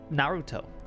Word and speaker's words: Naruto: It's pronounced Naruto.